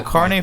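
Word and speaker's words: carnet: a car yeah oh it's a carnie for not it is it's like carne asada it's spelled differently though and nothing like carne asada it's the worst thing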